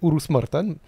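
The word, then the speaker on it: Urus-Martan: une ville qui s'appelle oururous Maran ourous Martin oururus Martin c'est en checheni ouais parfait Urus Maran avant de rejoindre justement agueno en France quand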